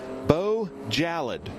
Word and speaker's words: Bo Jallad: He told me Bo Jallad. He said like it's like Bo Salad.